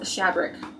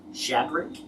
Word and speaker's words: Shadrick: earlier oh my gosh his name is shabric Shadrick yeah we didn't have a name I couldn't find it how do you spell it I say hey well because there were twins I think so Shanna and Shadrick okay s-h-a-d-r-i-c-k shadow Rick I don't recognize him